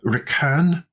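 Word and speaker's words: Requin: So what to do with the Redoutable and the Recan, as that's properly pronounced, shark, if you prefer, curiously named after a very good Scottish YouTuber who's doing some really good stuff.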